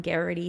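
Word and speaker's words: Geraghty: tuned in we are reading poetry from brian garrity today um and his last name is spelled g-e-r-a-g-h-t-y look him up if you're local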